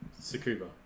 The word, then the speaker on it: Tsukuba: Okay, I see where you butchered it, because it starts with TS UK.